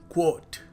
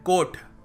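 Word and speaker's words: quote: Finally क्वोट। क्वोट, और हम क्या कहते हैं कोट। ये शानदार कोट है, ये देखो इसको, कोट है ये। सो the right way to pronounce it इज क्वोट।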